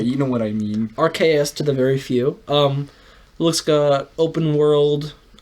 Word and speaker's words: Arceus: How do you say Arceus?